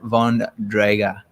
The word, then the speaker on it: Von Drager: we've got professor aaron von draga is that correct yeah is that correct that's correct except in the german language you pronounce the v as an f so it's actually fundraiser